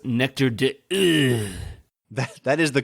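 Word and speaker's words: Nectar d'Òr: two or at some point I believe it's pronounced nectar dude that is the correct French French pronunciation yes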